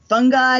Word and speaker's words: fungi: my youngest who's 14 because I said funi and he was just like wait what he's like no Fung guy and I'm like I'm pretty sure that there are a ton of valid pronunciations for that word and so I go on like a you know dick Ary delve and I'm like see you can say fungi you can say